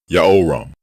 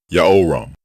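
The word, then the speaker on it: יהורם: Both forms are pronounced the same way. Yaoram, Yaoram.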